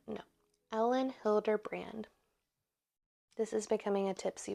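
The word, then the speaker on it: Hilderbrand: say her name Ellen Hilder B no Ellen Hilder brand this is becoming a Tipsy book call Ellen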